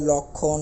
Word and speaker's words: লক্ষণ: কক্ষ একই রকম ভাবে অনুরূপভাবে লক্ষণ লক্ষণ ল এর সাথে একটি অ আছে তারপরে যুক্তবর্ণ যুক্ত খ রয়েছে তাহলে এই ল টা হয়ে যাবে একটা ও ওকার ব্যবহার করতে হবে অর্থাৎ লক্ষণ অর্থাৎ লর ওটা অটা ওর আকার হয়েছে